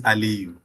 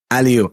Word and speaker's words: Aliyu: but I'm just trying to validate that I'm pronouncing your name correctly. Aliyu? Is that sounding right? Yeah, the name is Aliyu. Aliyu. I remember there was something. Yeah, cool. Yeah, Aliyu.